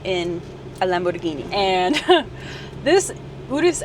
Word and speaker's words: Urus: Well, some people say the Urus. It's actually correctly pronounced the Urus, and I will tell you guys how I know that later on in this video.